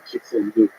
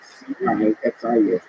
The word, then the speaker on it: Cixin Liu: I read science fiction, so there's this Chinese writer, Cixin Liu. This is his name. I know I pronounce it exactly right. Cixin Liu.